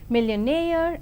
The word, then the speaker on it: millionaire: And now the words stress, the words ending with suffix ee, eer and air are stressed on the the syllable itself, that is payee, addressee, employee, absentee. And engineer, volunteer, career, mountaineer, millionaire and questionnaire. And let us see accent in the compound words.